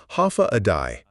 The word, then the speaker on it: Hafa adai: Hafa adai pronounced ha a day.